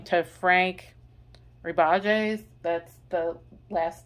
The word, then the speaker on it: Rebajes: So the artist is, I'm going to mispronounce this name, Rebages. It's Rebajes.